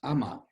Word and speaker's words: ama: And so the character for heaven is pronounced ama, and Amaterasu no Okami is the sun goddess.